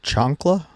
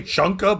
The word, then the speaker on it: chancla: Chancla, I want to say. It's something like that. I was gonna say chunka, but I know it's not chunka. I can spell it, but I'm not.